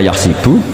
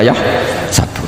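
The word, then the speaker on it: يحسب: Karena dalam qiraat sab'ah ada yang baca yahsibu, qiraat kita baca yahsabu. Tapi guru-guru kita kalau ngajar fikih itu bacanya yahsibu. Tapi kalau baca Quran yahsabu. Ya kan Quran kita kan ayah sabu Allah yaqdiru alaihi ahad, bukan dibaca ayah sibu.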